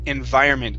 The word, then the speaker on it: environment: Let's practice the pronunciation of the word environment. Give me a good V sound there.